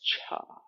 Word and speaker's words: Chih: called tai chi cha the third word is pronounced cha like Chuck Wagon I'm into food so